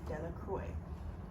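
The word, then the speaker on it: Delacroix: Bobby and Harry Jones and Dicky Little Deoy, the villagers pronounced this name Deloy, eventually made a great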